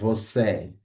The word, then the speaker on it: você: এখন যদি আমরা এই যে একটু আগে বলছিলাম ইটাকে, এখানে লেখা আছে যদিও বাট এটা উচ্চারণ হবে হচ্ছে এ। হ্যাঁ, যখন এটা কোনো শব্দের আগে পরে থাকবে সবসময় আমরা এটাকে এই উচ্চারণ করব। হ্যাঁ, você, você।